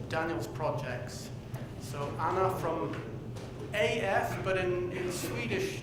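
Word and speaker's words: ÅF: And Anna is going to speak about one of Daniel's projects. So Anna from AF, but in Swedish, the A with a little round on it, you don't pronounce it as A, you pronounce it as O, so OF.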